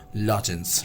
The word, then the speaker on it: lozenge: Next we have here is lozenge, means the pronunciation of this is lozenge, right?